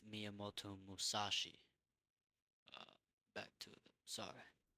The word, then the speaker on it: Miyamoto Musashi: If he's right, Muyomashi. Uh, I said his name wrong. My bad. It's Miyamoto Musashi.